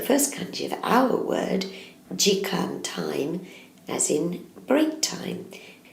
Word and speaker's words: 時間: It's pronounced jikan, and we're going to have a look at each individual kanji to learn how to write it.